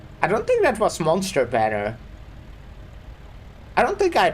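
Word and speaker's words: Mon3tr: saving for uh yeah I know it's pronounced monster. I do it a lot of the time, but also a lot of the time I say on free just because it's fun.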